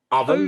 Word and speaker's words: oven: And this one is oven, Oven. It's oven. No, it's oven. oven. Oven. But it's really strange, oven, oven. But if you remove the n, it would be over. Mm. So that's why many people don't pronounce it as oven. Yeah. Yeah. And as Russia just said, it's the strong schwa sound that's being used there.